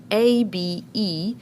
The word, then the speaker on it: Abe: And then our E is silent, which actually it did the job of making this A say its second sound, A. So that's why we have the word Abe.